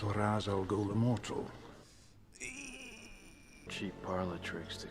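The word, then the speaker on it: Ra's al Ghul: good thing for him am I pronouncing this right Mr Raz Al G no no uh oh you're not Raz Al ghou this Raz Al goul Immortal cheap parlot tricks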